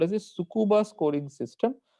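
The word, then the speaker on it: Tsukuba: name called as the sucuba scoring system the t is silent it is called as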